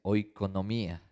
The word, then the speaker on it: oikonomía: La palabra mayordomía viene de una palabra que se pronuncia oikonomía. Es una palabra griega, oikos casa, nomos ley, que se refiere al administrador de los asuntos de una casa.